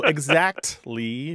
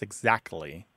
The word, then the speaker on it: exactly: Look, there's two common pronunciations of this word throughout the English-speaking world, no matter where English is spoken. And in your household, they both exist. Exactly with a T and exactly without the T sound.